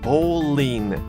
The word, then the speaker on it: bowling: Remember, in English, it's called bowling. That L. Try to pronounce that L, everybody.